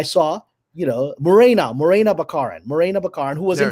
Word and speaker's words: Baccarin: to say excuse me are you marina baccarin that's what i'm pronouncing she goes it's bakarin well i'll never get that name wrong again so it's bakarin although later i heard